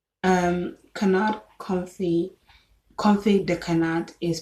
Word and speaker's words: confit de canard: Confit de canard is spelled CONFIT space DE space CANARD.